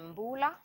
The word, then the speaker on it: Mbullah: If if we have not met before, I'm Mbullah. Some people pronounce it Mbula.